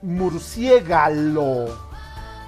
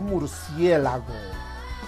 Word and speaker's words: murciélago: Menos, no se dice murciégalo, sino murciélago, cuando nos referimos al mamífero volador.